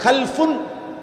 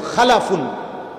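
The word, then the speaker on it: خلَفٌ: হয় আরবিতে একটা হল খালফুন আরেকটা হল খালাফুন একই শব্দ শুধু উচ্চারণের মধ্যে একটু ভিন্নতা। মাঝখানে একটা লাম আছে। এই লামটার মধ্যে যদি সাকিন হয় তাইলে হল খালফুন।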